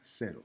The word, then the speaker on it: cero: Cero, cero, cero, cero, cero. Cero is going to be that soft C.